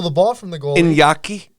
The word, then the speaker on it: Iñaki: Iñaki? Iñaki, indeed. How do you spell that?